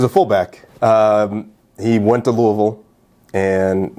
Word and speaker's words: Louisville: Louisville is the proper way to say it.